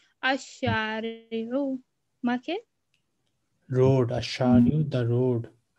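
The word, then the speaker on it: الشارع: Lam is silent. Al-Shari'u.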